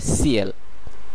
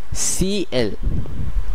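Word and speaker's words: ciel: কিন্তু আবার অনেক সময় শেষের বর্ণটিও উচ্চারণ করা হয়, যেমন এই ক্ষেত্রে এটির উচ্চারণ হবে সিএল, সিএল যার অর্থ আকাশ।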